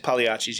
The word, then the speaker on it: Pagliacci's: It's pronounced Pagliacci's, right? Pagliacci's, yeah.